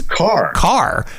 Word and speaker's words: Karrh: how to pronounce his last name it's it's car car but it's spelled k-a-r-r-h and uh so i wasn't sure